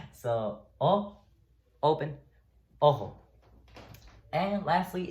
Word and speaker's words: ojo: So the J sound sometimes sounds like an H in Spanish. So, ojo, which means eye. Pay attention. All right. So, open, ojo.